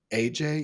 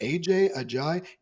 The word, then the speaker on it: Adjaye: I'm sorry, AJ. Yeah, I mispronounced that and we're moving on. So David Ajay, ADJAYE.